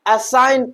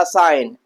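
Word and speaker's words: assign: Silent होता है। तो हम असाइन पढ़े। क्या पढ़ेंगे? असाइन।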